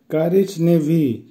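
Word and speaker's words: коричневый: বেলি, বেলির অর্থ হবে সাদা কালার, উচ্চারণ হবে বেলি, বেলি। কারিজ নেভি, কারিজ নেভির অর্থ হবে বাদামি বা ব্রাউন কালার, উচ্চারণ হবে কারিজ নেভি।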